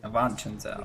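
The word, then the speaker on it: Avanchnzel: You must bring it to Avanchenzel in the... Avanchenzel, that's how it's pronounced.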